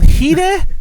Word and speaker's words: Hide: who don't know who heeda is he's a guitarist reaction I will talk about him way later on but um but heeda is spelled hide like an english hid e so when i was